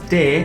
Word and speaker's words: T: T is pronounced as te, as in telephone. So you remove this part and this is the pronunciation. Te. like telephone.